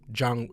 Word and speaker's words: Chang: Are you Chang or Zhang?